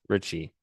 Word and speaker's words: Ricci: least known founding father, Lorenzo Richi, pronounced Richie.